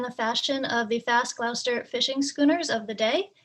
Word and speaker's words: Gloucester: a yacht in the fashion of the fast gloucester fishing schooners of the day and robust enough to bring them into the north atlantic and side note i am from the boston area it is pronounced glausta so we do know that zodiac was a